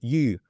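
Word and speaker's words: 鱼: I think it's more like a grammar based element because like the word for fish in Chinese and it's u with like a rising tone.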